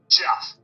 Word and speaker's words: Jeff: Am I pronouncing your name right? Jeff. Jeff. Okay. Yeah, you got it.